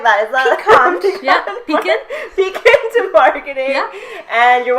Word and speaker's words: Piquant: Yeah, Piquant.